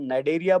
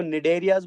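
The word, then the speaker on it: Cnidaria: जिसको हम नाइडेरिया बोलते हैं। सी साइलेंट रहेगा बेटा, तो इनको निडेरियाज बोलते हैं, एन आई से शुरू करेंगे, या इनको सीलेंट्रेटास भी बोला जाता है।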